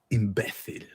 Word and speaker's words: imbécil: Imbécil. I like the Spanish. Imbécil. That's how they say it in Spain.